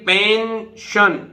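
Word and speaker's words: pension: वैसे देखिए पेंशन, पेंशन, ठीक है, पेंशन आप जानते हैं।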